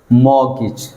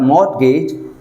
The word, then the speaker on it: mortgage: repeat after me whistle next one mortgage not mortgage mortgage all right mortgage next one